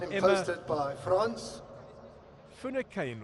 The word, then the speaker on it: Finucane: Finucane or Finucane. Correct pronunciation there.